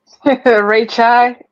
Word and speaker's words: Ray Chai: Ray Chai. Ray like Chai.